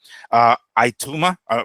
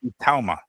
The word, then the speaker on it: Itauma: Ituma, not Ituma, sorry. How do you pronounce that guy's name? Moses. Ituma, you're right. Itauma.